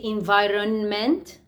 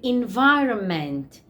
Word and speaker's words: environment: But we don't say environment. No, we say environment. So, underline N, this N is silent.